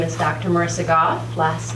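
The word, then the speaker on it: Gough: Marissa Goff. Last name is spelled G-O-U-G-H.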